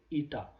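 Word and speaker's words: η: it is called as it up you will pronounce it like ETA e into DV by dy okay so this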